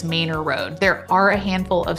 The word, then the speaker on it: Manor: Fun fact that you probably don't know just yet, this street is actually spelled like the word manor, but Austinites pronounce it as Manor Road.